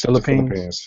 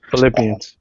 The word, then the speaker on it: Philippines: don't want to say it wrong it's pH Philippines yeah the Philippines Philippians Philippians Philippians yeah but yeah it's good that